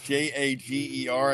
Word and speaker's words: Jager: A G E R I think of Jägermeister. Is it Jager Burton if you're J A G E R? Um that's probably where I'd lean towards in terms of pronunciation, but you know, he